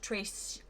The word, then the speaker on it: Trestique: And the other one I have here is, one of you let me know recently it's pronounced Trestique. So thank you for letting me know.